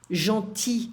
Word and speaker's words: gentil: Gentil, I don't pronounce the L here in the masculine form.